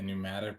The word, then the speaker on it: pneumatic: It says I have to make a pneumatic refinery for the next quest, but I looked up in the item thing and it didn't come up. Pneumatic has a silent P in it.